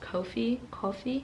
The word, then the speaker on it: Kofi: it's spelled it's probably it's pronounced Kofi Kofi but it sounds like coffee and that's like everything